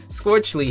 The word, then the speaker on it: Scorchle: Scorchle. Yes, that's how you pronounce it. Okay, like torch, scorch? Yes. Wow, that's mouthful. But Scorchle here is actually responsible